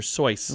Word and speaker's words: Seuss: He says, "You're wrong as the deuce, and you shouldn't rejoice. If you call him Seuss, he pronounces it Soyce." Okay. Yeah, so it's not Dr. Seuss, it's Dr. Soyce.